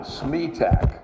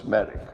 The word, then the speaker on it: Smedick: I said Smetak. That's a new one. She says, no, it's Smedick.